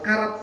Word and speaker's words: carat: nilai dari permata adalah karat pakai C bacanya carat ya tapi orang bacanya karat juga itu Nilainya sangat mahal